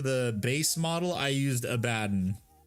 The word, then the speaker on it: Abaddon: And I used, for the base model, I used Abaddon. Or Abaddon, however the fuck you want to pronounce him. The correct way, which is Abaddon.